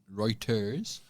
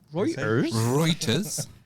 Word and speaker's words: Reuters: The Reuters exclusive. Reuters. Reuters. You know, the news agency. Reuters. The world's most trusted news sources. The one at the end of the road. Who's that? That news agent. Reuters.